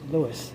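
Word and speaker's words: Luis: Yep, Lewis. Pretty quick and simple. Yeah. Thank you very much. Can I spell it?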